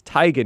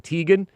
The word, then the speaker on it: Teigen: And uh or uh oh, what's her name going by uh you know, Chrissy Teigen. It's not It's Teigen, not Teegan.